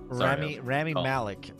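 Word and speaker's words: Rami Malek: great actor great singer I really hope that Rommel Malik is how you say it yeah Ramy Malik I really hope that he can fit the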